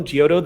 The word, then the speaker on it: Giotto: spoilers oh right it's okay this is okay pronunciation did you need for me g-i-o-t-t-o geoto the the artist that gave birth to the